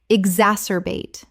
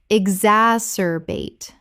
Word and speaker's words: exacerbate: re-miss remiss Word 169 exacerbate Common mispronunciation ex-as-cer-bate Correct pronunciation exacerbate Four syllables with the stress on the second.